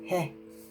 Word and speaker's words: Heh: symbol you see here i believe it's pronounced hey right h-e-h so let me tell